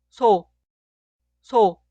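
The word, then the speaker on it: 소: La consonante inicial suena S en español, pero se pronuncia débil, suave y relajada.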